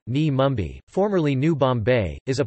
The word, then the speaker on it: Navi Mumbai: Navi Mumbai, Navi Mumbai Marathi pronunciation, Ni Mumbai, formerly New Bombay, is a planned city off the west coast of the Indian state of Maharashtra in Konkan division.